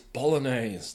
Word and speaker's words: Bolognese: Pronounce the G. Oh yeah. It's a silent G. It's not. It's not. It's Bolognese. The G. The G is not silent in Bolognese.